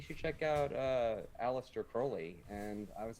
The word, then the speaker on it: Crowley: check out uh Aleister Crowley and I was like no I've heard of Crowley before and he's like no no it's Crowley and you gotta read